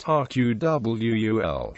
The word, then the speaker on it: AQAL: Ken Wilber's AQAL, pronounced RQWUL, is the basic framework of integral theory.